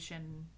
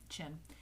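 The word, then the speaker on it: Schin: I don't know if you've ever seen videos of Shin working. Sorry, Chin, because it's spelled SCH. I always want to go Shin, but it's pronounced Chin.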